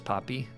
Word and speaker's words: Poppy: No, her name is Poppy. Like Poppy Seed Muffin.